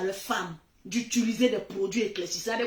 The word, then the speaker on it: femme: On dit femme, mais ça s'écrit F-E-M. Femme. Le E là, on lit ça A.